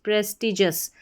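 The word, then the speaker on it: prestigious: टी प्रेस टी और जब भी आपको किसी स्पेलिंग में जी आई ओ यू एस लिखा हुआ मिल जाए तो इसको जस करके पढ़ेंगे। यह हमारा कोड हो गया जी आई ओ यू एस इसको जस करके पढ़ा जाता है।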